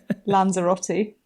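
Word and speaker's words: Lanzarote: that right yeah and do I say it like an American is it ler Ro is it Lera how do we say it I'm British I want know British so I'll say it like lanzerotti there you go lanzerotti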